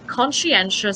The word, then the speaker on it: conscientious: okay now number three conscientious simply means ponchi anxious that's longer it's four syllables by the way when i write in